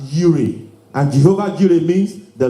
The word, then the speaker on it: Jireh: Jireh is pronounced as Yireh, and Jehovah Jireh means the Lord will provide.